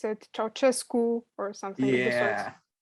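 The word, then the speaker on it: Ceaușescu: the overthrowing of the, what's his name, Susescu, or Nicolae Ceausescu is how you would say his name in Romanian. Usually in English they pronounce it Ceausescu or something of the sort.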